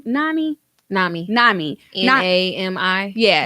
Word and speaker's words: NAMI: uh one of them is um is it pronounced name nami nami nami a-m-i yeah n ami so you can actually